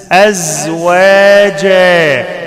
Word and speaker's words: أزواجا: وخلقناكم وخلقناكم أزواجا وخلقناكم وخلقناكم القاف ساكنة فيها قلقلة وخلقناكم أزواجا أعمل زن في الزين أزواجا ما أقولش أسواجا خطأ أزواجا وخلقناكم وخلقناكم أزواجا أزواجا